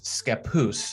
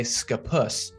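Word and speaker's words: Scappoose: at least for now is skapoose a lot of people say scapus and this is also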